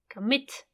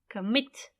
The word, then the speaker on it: commit: Commit. Commit. It's on the last syllable.